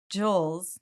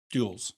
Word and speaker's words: joule: Do you say joules or joules? Jules. Joules What? of energy. I've never heard Oh, anyone say it oh, like that. no. every year. So I've never heard anyone say it like that. Say joules. Yeah. Joules? Jules. Is it Jules? I've It's always Jules, heard like Jules. It's Jules. Yeah, it's Jules.